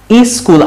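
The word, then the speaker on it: school: আপনি স্কুল আই দিয়ে না শুরু করে এইভাবে শুরু করবেন সব এস ওয়ার্ড। তারপর ওইখান থেকে এই থেকে স্কুলে যাওয়ার চেষ্টা করবেন।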